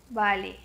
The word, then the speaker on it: vale: Não esquece que em espanhol não tem V, é som de B, o B fraco que eles falam. Quanto vale?